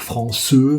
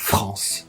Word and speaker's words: France: qui ont plusieurs syllabes, si le E est final, le E est muet. Donc clairement, vous n'allez pas dire françeux, vous allez dire France, parce que vous allez mettre l'accent tonique sur la dernière voyelle qui sonne, et cette voyelle, c'est la voyelle nasale en.